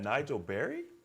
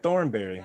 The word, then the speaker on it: Nigel Berry: And Nigel, is that Nigel Berry? Did I say that right? Yep, not Thornberry, Not Berry. What? Not Nigel, there we go. Mel. I wanted you to confirm. I was saying. You said it right.